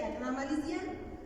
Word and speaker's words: acnamalician: Bueno, pues se dice acnamalician. Los que han intentado aprender esta lengua, pues sí se les dificulta muchísimo por la glotal, ¿no?